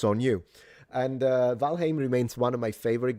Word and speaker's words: Valheim: I'm so looking forward cuz Valheim remains and please stop saying Valheim. It's Valheim. I literally asked an old Norse expert. Thank you. It's Valheim. It's not Valheim.